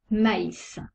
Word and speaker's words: maïs: les deux lettres exemple maïs on prononce le a et le i sans le trèma la